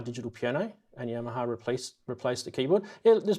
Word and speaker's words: Yamaha: Yamaha digital piano, and Yamaha replaced the keyboard. Yeah, there's been a lot of positive comments already I've noticed in the chat about Yamaha, or Yamaha, if you want to say it properly.